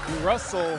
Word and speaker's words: Russell: genius that's his Brilliance Russell rhymes with funnel how to Market how